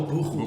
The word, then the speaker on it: buchu: It says here there's buku oil or buchu. Is it buchu or buku? I think you pronounce it Oh, buku.